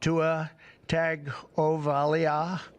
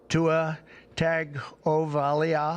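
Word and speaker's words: Tua Tagovailoa: Tua tag oval. There's no N, but everybody says N, but there's no N.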